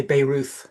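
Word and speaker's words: Bayreuth: Uh, if you're English, you might say Beirut, but it's B A Y R E U T H.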